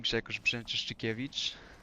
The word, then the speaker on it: Grzegorz Brzęczyszczykiewicz: There's like double Polish sound in that. Because RZ is Z and SC is sh. Like SH. SH. My name is your name, Grzegorz Brzęczyszczykiewicz.